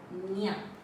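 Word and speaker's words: ಞ: Here pronunciation is nya.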